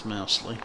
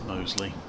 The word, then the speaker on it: Mosley: It is really hard to pronounce Mosley, by the way, in case you look at the page thinking surely that's Mousley, but I understand it is Mosley. As in the rugby club.